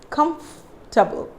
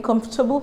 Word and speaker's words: comfortable: it is very wrong you have to silence the letter o here so how do you pronounce this comfortable comfortable so i'm pronouncing i'm stressing on f here comf trouble i'm feeling comfortable here are you feeling